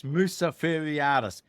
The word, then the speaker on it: Mousaferiadis: I say your name wrong all the time. Mousaferiadis. I think you're just nervous. It's Mousaferiadis. That's right, because I have said it 50 million times.